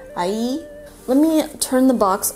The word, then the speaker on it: AIYE: I may be saying that wrong, but that's how it's spelled, and the kanji is I, and in Japanese that would be ya, but it's spelled Y-E, so I'm gonna say AIYE. AIYE?